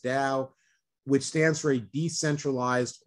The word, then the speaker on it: DAO: One thing-- you can't be in the NFT space today without coming across something known as DAOs-- spelled DAO, but pronounced "dow"-- which stands for a decentralized autonomous organization.